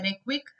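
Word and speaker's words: Reykjavík: अच्छा, इसके बाद एक रेविक चेस ओपन हुआ था, इसके नाम में कुछ वर्ड्स जैसे कि जे साइलेंट है, रेक्विक चेस ओपन हुआ था।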